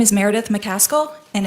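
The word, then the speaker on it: McCaskill: the record for us my name is Meredith mcal and it's spelled m e r e d i t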